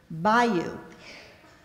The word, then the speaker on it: bayou: Bayou. Could you use it in a sentence? Dale's grandfather lives near a bayou in southern Alabama. Are there any alternate pronunciations? Bio. B-A-Y-O-U.